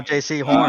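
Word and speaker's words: Jaycee Horn: I'm going J.C. Horn.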